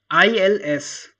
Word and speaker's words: ils: that uh you know ils so this s yeah s we will never going to pronounce this s the pronunciation of like